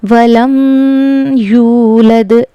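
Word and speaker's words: وَلَمْ يُولَدْ: वलम यूलद यहां पर गुना नहीं करना बल्कि इसको जाहिर करके पढ़ना है।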